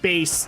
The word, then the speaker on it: Bass: Because the guy actually did explain it's like bass, like the speaker kind of thing. Like the musical term bass. Yes, he said, like, I think the quote was like basses and speakers kind of thing.